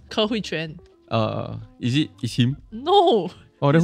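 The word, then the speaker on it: Ke Huy Quan: Ke Hui Huang, the guy who is named, how to pronounce? Ke Hui Quan.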